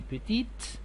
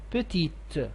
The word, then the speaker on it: petite: them at the end but here when you add it at the end to the end of the adjective so you had to pronounce the T the T petite and also the same